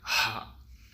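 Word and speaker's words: ح: இன்னைக்கு நம்ம பார்க்கக்கூடிய எழுத்து வந்து அரபியுடைய ஆறாவது எழுத்து ஹா யூசுவலா இது வந்து ஹே அப்படின்னு சொல்லுவாங்க.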